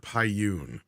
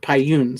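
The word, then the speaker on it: Pyun: correct you I'm sorry it's Albert paiyoon Albert payoon sorry I never knew how to say his name to be honest with you I didn't know if it was Pian or paiyoon or whatever like because there's actually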